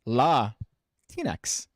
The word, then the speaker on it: Latinx: in the comments here it's pronounced la tinex pronounced la tinex i